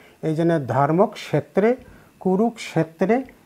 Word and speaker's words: কুরুক্ষেত্রে: আর উচ্চারণ যে কুরুক্ষেত্রে যে উচ্চারণ করলাম এটা তো একটু আগে বলেছি, যুক্ত ক আলাদা স আলাদা উচ্চারণ করা লাগবে। এই জন্য ধর্মক্ষেত্রে কুরুক্ষেত্রে সমবেতা, দন্ত সটাকে বলেছি ছয়ের মতো উচ্চারণ, সমবেতা।